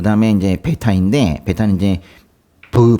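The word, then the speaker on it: β: 요건 뭐 쉬우니까 넘어가고 그 다음에 이제 베타인데 베타는 이제 브 발음이 납니다.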